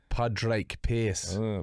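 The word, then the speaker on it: Pádraig Pearse: Padre Pierce.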